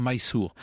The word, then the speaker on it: Mysore: fait à leur misère c'est en fait la prononciation française d'une graphie anglaise il faudrait dire my sourd mais c'est un royaume